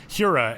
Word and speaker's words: Hiura: I also really like Keston Hiura in the, or Hiura, as he said when he called me. I got to start pronouncing his name correctly.